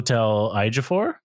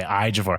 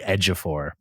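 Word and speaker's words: Ejiofor: this guy's name wrong but it's chel afor yes that is correct okay afor I was saying like edor so I was like that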